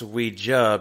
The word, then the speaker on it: Ouija: Maintains that Ouija is pronounced Ouija because it is the French and German, I guess, words, right? Words for yes and no. Oui and ya.